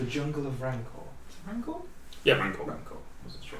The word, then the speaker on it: Rancor: Is it Rancor? Yeah, Rancor. Rancor. Wasn't sure if I was pronouncing Quick it question: right.